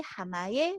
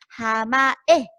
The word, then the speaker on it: 하마의: 자, 여러분 하마의 라고 발음하는 게 원칙이죠. 그죠? 원래는 하마의 라고 발음하는 것이 원칙인데 자, 이 의가 여러분 조사입니다. 그죠? 자, 조사이기 때문에 우리 조사일 때는 의를 어떻게 발음하는 것도 허용해 줬다? 에로 발음하는 것도 허용해 줬죠. 그래서 하마에 라고도 하는 게 가능하다라는 겁니다. 이 둘 다 가능하다라는 거 알아놓으십시오. 알겠죠?